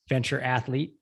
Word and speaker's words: Ventura Athlete: So it's spelled Ventura Athlete, but it's pronounced Venture Athlete.